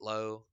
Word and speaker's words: Lowe: So Nate Lau pretty good this year, or Nate Lowe. I think you can pronounce his Low, but Yeah.